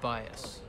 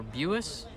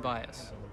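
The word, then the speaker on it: Buis: some tea tonight my voice is going to be shot oh bias now 3-0 when you look at mitch's name you wouldn't think it's pronounced bias you would think voice or bus but it's b-u-i-s and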